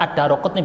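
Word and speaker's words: ad-Daraqutni: Cara baca yang benar. Addaruqutni bukan daru ya.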